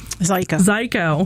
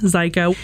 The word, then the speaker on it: Zajko: have Rosanne Psy psychoo Zeo rhymes with psyo psycho rhymes with psycho Rosanne ziko she is a Gettysburg